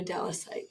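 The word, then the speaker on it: Dallasite: am a relatively new Dallas site so that's how we say it right Dallas site a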